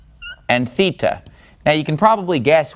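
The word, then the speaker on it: θήτα: and then have the three that rhyme Zita eita theta all right so that's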